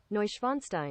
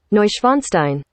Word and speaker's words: Neuschwanstein: play it hmm oh how about we search pronunciation there you go knucklehead here we go schweinstein schweinstein neuschwanstein neusch schweinstein schweinstein turn up that bluetooth there we go let's do it again neuschwanstein neuschweinstein schweinstein schweinstein this is a german 101